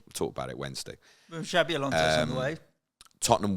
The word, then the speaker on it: Xabi: Xavi or Xabi? Xabi. But for ball, yeah, Xabi. You got to learn to pronounce your new manager's name. Xabi. Spelled with a V. Xabi.